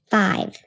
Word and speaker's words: five: I am not only keeping the letter V from being at the end, I am jumping over one consonant and making the vowel long.